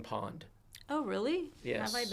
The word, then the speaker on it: Pwned: There's a There's a website called Have I Been Pwned. Oh, really? Yes. Been Pwned. I'm going to write that down. Okay. I Been Pwned, and Pwned is spelled p w n e d.